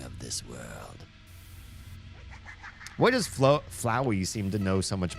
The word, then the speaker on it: Flowey: It should be Flowey, right? This rhymes with flower.